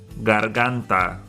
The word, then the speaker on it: garganta: Garganta. Garganta. The G in both cases here is before an A, which makes the G sound.